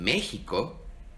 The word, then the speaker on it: México: Por eso en nombres viejos, particularmente en México, ves que se utiliza la X y se pronuncia como J, como en México o en ciudades como Oaxaca.